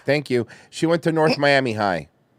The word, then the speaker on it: North Miami High: Or, as Miami MILF knows people there call it, No Miami High. No Miami High. For real, that's how they say it. That's how my grandparents said it anyway.